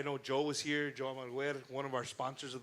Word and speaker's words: Almaguer: I want to say Almaguer. it's Almaguer. Almaguer.